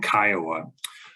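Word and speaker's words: CCIOA: interest ownership act uh commonly pronounced by its initials uh Kiowa We Gather analyze and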